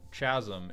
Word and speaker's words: chasm: By the way, boss, the word is pronounced chasm, if you're curious.